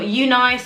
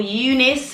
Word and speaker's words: UNice: sent this hair here from you nice or eunice depends on how you say it but for me it's like unite this is the blonde ombre